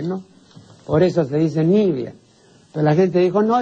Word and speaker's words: Nivea: pueblo pues no sabe lo que significa nivia no entonces traslada el acento pues s Entonces le suena más decir Nivea No claro Entonces ahora se conoce como crema Nivea eso es un disparate absoluto pues eso es tan